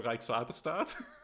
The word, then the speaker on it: Rijkswaterstaat: The first part is like Rijks. Okay. Rijkswaterstaat.